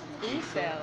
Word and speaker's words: Aicelle: you like to pronounce your name? Aisel.